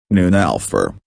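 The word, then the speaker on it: Neunelfer: the Porsche 911 pronounced 911 or in German noon Alpha is a two-door two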